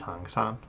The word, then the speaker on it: 行山: Oh, it is hang san.